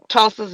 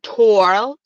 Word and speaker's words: Tulsa: Tulsa. It's very simple. Not Torsa.